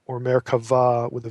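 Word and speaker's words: Merkavah: And me can either be spelled with a B, meraba, or merava with a V. It's pronounced V if if you're saying it in Hebrew.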